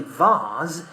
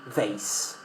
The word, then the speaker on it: vase: We say vase in British English. In American English, we say vase.